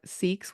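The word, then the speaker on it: Sikhs: so learning more about seeks was really really interesting for me in writing this book um it's also pronounced sick um both pronunciations can be used she she tends to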